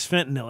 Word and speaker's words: fentanyl: The correct way to say it, though, of course, is fentanyl.